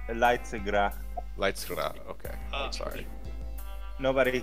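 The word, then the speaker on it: Leidsegracht: Is that how you pronounce that? Lindengrast? I think it's Leitzegracht.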